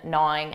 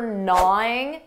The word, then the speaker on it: gnawing: Notice that pronunciation for gnawing, that G is silent. Gnawing, gnawing.